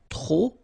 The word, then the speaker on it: trop: Remember, too many, trop, don't pronounce the final P.